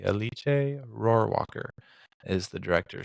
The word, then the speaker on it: Alice: and if if you're looking for eliche it's Alice that's what I thought it was until I listened to some interviews and heard it pronounced correctly it's alici um a i c we would have said